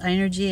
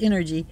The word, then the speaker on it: Inergy: I've heard it pronounced Inergy and I've heard it pronounced Energy.